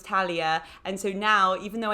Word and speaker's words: Talia: before i met and i was just calling utalia the whole time and i have a pet peeve which is when people know people's names and they pronounce them wrong and so then you told me it was talia and so now even